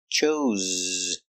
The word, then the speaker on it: chose: he chose the orange pronunciation use the Zebra z chose Z he had a choice